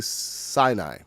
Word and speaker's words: Sinai: two y's yeah that's that's pretty much it c i'm not going to say c i'll say sinai but now i've had my curiosity satisfied all